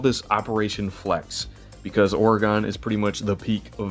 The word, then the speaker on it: Oregon: I know it's pronounced Oregon. I have no excuse or justification.